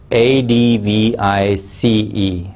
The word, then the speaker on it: advice: at the spelling of advice here it is a d v i c e advice and you must have come across another